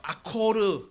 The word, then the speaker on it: 아골: 그래서이 아골이라고 하는 단어는이 히브리어 아콜르 아콜르라고 하는 그 단어인데 우리가 이제 발음을 우리나라 식으로 아골 이렇게 발음을 하게 됐어요.